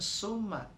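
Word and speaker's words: ثُمَّ: Summa, sum itu sa. Jadi bukan summa, tapi sa. Sa itu adanya di ujung lidah dengan ujung gigi.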